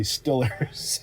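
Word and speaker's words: Steelers: That's how they say it over there. You know, in Philly they say Eagles. In Pittsburgh they say Stillers. Cheers.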